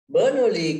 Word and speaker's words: Bernoulli: Pronounce කරන්නේ Bernoulli, double L-I. මෙතන U අකුරක් තියෙනවා. B-E-R-N-O-U-L-L-I.